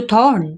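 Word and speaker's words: thought: साफ़ करने की आवाज़] थॉट हो गया देखो टी एच ओ यू थॉट जी H silent है तो थ ही रहेगा यहां तक पूरा टी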